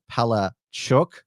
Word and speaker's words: Palaszczuk: I'm not aware of any other pronunciation, unlike Palaszczuk, Palachuk.